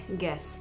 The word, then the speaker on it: guess: can be given like guess d d-u-e-s g-u-e-s-s u is silent and it is pronounced as g-e-s-s and also in the